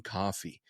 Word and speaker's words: Coffey: And then come to find out, you end up with this massive story about a guy named John Coffey, like the drink, just not spelled the same.